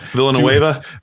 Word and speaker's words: Villanueva: you know obviously they just lost um the villa villa villapo neva i can't say his name villanueva billow yes thank you to baltimore uh not